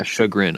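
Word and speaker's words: chagrin: jargon jarin shagrin shagrin that's is that how you pronounce it yeah shagrin I'm pretty sure it's a French word um but now people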